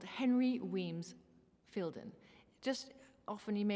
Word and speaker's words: Wemyss: So his middle name is written Wemyss, but is pronounced Weems.